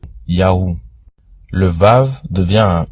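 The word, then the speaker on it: יהוה: Yud, He, Vav, He. Ou qu'on prononce YAUH.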